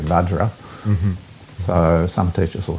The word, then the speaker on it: vajra: to use either the the form in which you receive the word like benzer for example but the sanskrit is actually vajra so some teachers will